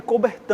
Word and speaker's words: Coubertin: tem um cara chamado o barão Pierre de coubertin ann-a pesar do nome dali cobertinha o nome francês a gente pronuncia acobertando Pierre de E aí ele teve